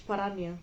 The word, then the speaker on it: paranoia: And if you think this is parania, paranoia, how do you pronounce this word? It's Greek. It's parania.